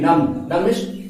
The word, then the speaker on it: numb: And next सुन हो जाना, NUMB, नम सुन हो जाना। बॉडी सुन हो जाता है ठंडा में, तो उसको इंग्लिश बोलते हैं नम, NUMB, नम, बी साइलेंट।